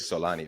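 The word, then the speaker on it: Xolani: Henry to and forgive me if I'm not pronouncing this correctly Solani. Is that Solani? Yes. Solani.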